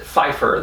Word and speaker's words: Pfeiffer: last name pfeiffer and if you pronounce that without a p at the beginning if you just pronounce it phifer then you can say